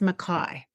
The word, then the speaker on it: Mackay: So I don't know if it's Mackey or McKay. It's Mackay.